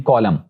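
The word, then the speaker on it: column: Rule ये है कि अगर किसी वर्ड के आखिर पर एम और एन इकट्ठे आए हैं तो वहां पर जो एन है वो साइलेंट होगा, यानी कॉलम, तो यहां पर एन साइलेंट है।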